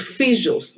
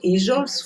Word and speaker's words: fijos: So it's fijos, not ijos, fijos.